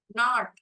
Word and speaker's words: knot: knot, K is silent letter.